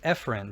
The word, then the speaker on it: efferent: We can call this efferent. Some pronounce it efferent, but again, it's good for me when I learned it to learn afferent toward and efferent away, and stressing the A and the E helped me.